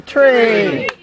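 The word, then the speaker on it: tri: Tre so how do they say number three Tre exactly and that's how you say it in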